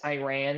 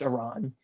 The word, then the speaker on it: Iran: blame you it's like all of American news media says Iran and I'm like no if you actually talk to people who've been there it's pronounced Iran real quick my apologies